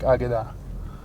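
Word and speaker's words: Akedah: a few different ways i pronounce the k more like a g because i know the hebrew pronunciation is more like agida well aguda refers to what's known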